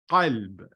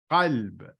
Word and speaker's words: qalb: But if we aren't able to pronounce this qa, as in iqra, we use or end up defaulting to what we are used to, and that is a regular K sound, okay?